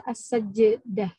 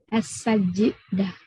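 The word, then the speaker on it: السجدة: Nama surat itu as-sajdah, jimnya mati ya. As-sajidah. Bukan as-sajidah ya.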